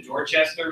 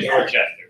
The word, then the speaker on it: Dorchester: It's pronounced Worcester up there, not Worcester. But if you go to Dorchester, Massachusetts, don't say Dorchester or Dorchester. It's actually Dorchester.